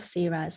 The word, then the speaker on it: CZhang: So please do remember this pronunciation CZhang because you will hear it very frequently in this research.